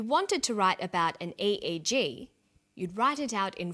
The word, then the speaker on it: EEG: says an EEG that's an abbreviation we don't pronounce it ich we say a eg EEG stands for electroencephalograph that's a type of